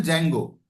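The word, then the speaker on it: Django: जिसमें D silent रहता है। सिर्फ बोलते हैं जेंगो और दूसरा है फ्लास्क।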